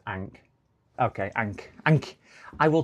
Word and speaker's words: Ankh: Ankh yeah, Ahmed. Ah, okay. Ankh yeah. I like, but it's pronounced Ankh.